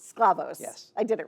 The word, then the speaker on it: Sklavos: how do you pronounce your last name? Sclavos. Sclavos.